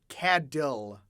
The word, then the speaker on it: cattle: We don't pronounce the T in cattle. We pronounce it as if it's a Okay. D. Cadil.